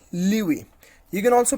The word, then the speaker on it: lewe: So it is LEWE, Liwi.